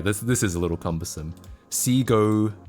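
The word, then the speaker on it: Segoe: I always pronounce Seago Sugoi. We had this debate earlier because yeah, I pronounced it like a Japanese word as well. I said Sugoe or Sugoe, but no, we googled it. It is actually Seago.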